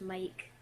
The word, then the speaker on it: M1K: Well, it's usually like, you don't pronounce them M1K, it's just Mike.